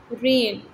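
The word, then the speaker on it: reign: रेन, रेन. जी की sound नहीं है इसमें, ये अंडरलाइन होगा.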